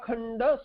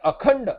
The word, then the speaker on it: Akhanda: So here, Sadekatva Vijnana, Advitiya Khanda Swaprakashananda Brahma Bheda Sakshatkarat. Advitiya Akhanda, it should be Akhanda. There is a space there. Advitiya Khanda should not be pronounced.